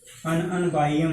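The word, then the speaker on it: Ununbium: BI और IUM है, तो इसमें एक आई साइलेंट हो जाएगा, अन अन बाईएम हो जाएगा, तो ये हो जाएगा सिंबल में इसका UB।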